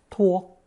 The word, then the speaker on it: 托: With the addition of the speech radical 言, this character is pronounced first tone 托, as is another character with the hand radical 手.